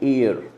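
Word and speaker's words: heir: अच्छा guys, Spain has now mail एयर टू the throne, इसकी pronunciation याद रख लेना, बहुत लोग गलत बोलते हैं एयर। ठीक है, हे हा नहीं है, इसमें एयर है, एयर।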